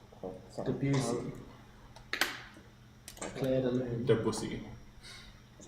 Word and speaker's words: Debussy: Debussy.